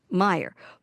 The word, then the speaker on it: Mayer: And in Germany, his name is spelled M A Y E R. Meyer.